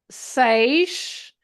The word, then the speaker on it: seis: The EI, that sometimes English-speaking people have a little of difficulty in pronouncing the EI together, is the sound A. It's exactly like an A and a Y in English. So in the word they or pray, or so other words with A, Y. It's exactly the same sound. The EI is A.